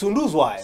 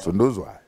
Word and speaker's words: Sunduzwayo: Now I realize I've been pronouncing your name wrong. You're not the only one. It's okay. You should have corrected me at the beginning. It's okay. It doesn't matter. It's Sunduzwayo. Sunduzwayo.